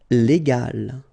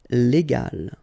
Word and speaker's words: légal: this G letter, okay, and so you will pronounce this word légal, okay, légal.